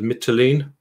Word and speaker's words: Mytilene: Now, there is also a mention of the conquest of, I think you pronounce it, Mytilene.